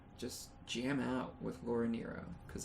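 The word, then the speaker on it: Nyro: the name again laura what nero n-y-r-o i'm pretty sure that's how you pronounce it at least that's how you pronounce it according to wikipedia um and yeah other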